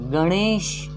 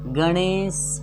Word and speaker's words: गणेश: इस ण का उच्चारण मूर्धा से होता है।